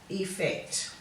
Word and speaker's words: effect: Whereas this should be a long E sound here, escape, escape, and effect.